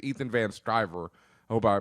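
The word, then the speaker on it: Van Sciver: are by I want to say it's Ethan van striver I hope I pronounced his last name right yeah that's right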